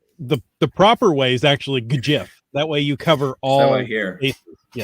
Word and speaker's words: GIF: little bit of a history because we didn't have a 2020 GIF event.